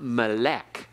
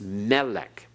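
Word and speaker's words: מֶלֶךְ: everyone Melik it's not Malec it's melech okay accent on the first syllable that's Malay oh and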